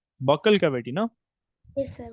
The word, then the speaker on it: buccal: That is, spell it correctly. Cavity, it is true, but before cavity you said buccal cavity, no? Yes, sir. Buckle. Buccal.